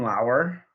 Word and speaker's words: Lauer: Wait, I was all in on Justin Lauer. Yes. Not Lower.